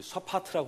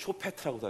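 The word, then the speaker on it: שופט: 이 사사가 누군가 이제 샤파트라고 하는데 쇼페트라고도 하기도 하고 모음에 따라 조금 이제 발음이 다른 것 같아요.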